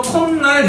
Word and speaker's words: 콧날: 자, 그다음에 사인쇼 뒤에 니은이나 미음이 오는 경우에는 니은으로 발음한답니다. 예를 들으면 콧날 이렇게 되죠. 날 코 더하기 날이잖아. 사이옷이 표기가 되죠. 그러면이 사이옷은 시옷이 발음 안 되니까 디귿으로 바꾸겠지. 그런데 그 디귿이 뒤에 있는 니은 때문에 비유화된 거야. 음. 그래서 콧날 이렇게 되는 거야.